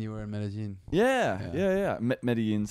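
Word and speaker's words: Medellín: Medellin's how you properly pronounce it. But there. I always, what's that? Yeah, but no, some Spanish accents you go zh. Yeah. For the double L. Other times it's just silent, right?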